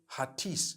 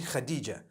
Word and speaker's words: Khadija: In Turkish, some people spell it H-A-T-I-C-E. I would say Hatis for that. No, it's actually Khadija.